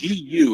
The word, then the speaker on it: Gu: GU is how it's spelled. Eugene GU, like goo.